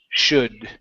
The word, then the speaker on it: should: would should in those in those words the L is silent okay so let's try that could would should okay hey try those